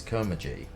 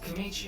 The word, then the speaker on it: Komachi: This is where I found out how badly I butchered that pronunciation. His name was Andes Komachi, I think.